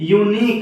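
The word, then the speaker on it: unique: यू जुड़ा हुआ है, लेकिन जब हमने इसका प्रोनाउंसिएशन किया तो ये क्या हो गया है, यूनिक।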